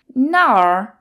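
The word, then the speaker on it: 那儿: and that means where Nar is fourth tone now is fourth tone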